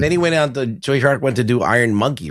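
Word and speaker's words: Tsui Hark: Choi Hark.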